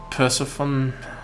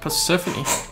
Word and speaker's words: Persephone: Have you read the story of Hades and Persephone? I don't know how to pronounce that.